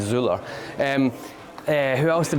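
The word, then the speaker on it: Zoeller: Fuzzy Zeller. Zea, that's right. Yeah, that's how the Americans would pronounce it, right? It probably be Zuler.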